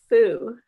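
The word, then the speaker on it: 蝠: symbol for happiness, because in Chinese, the word bat is pronounced fu, and the word for happiness is also fu.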